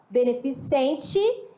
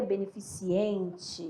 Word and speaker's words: beneficente: do dia a dia beneficente e a pessoa pronuncia beneficiente ai gente aqui então a questão é aqui no ciente né beneficiente e não